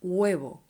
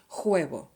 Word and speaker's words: huevo: so please don't say juebo okay the h is mute the second thing is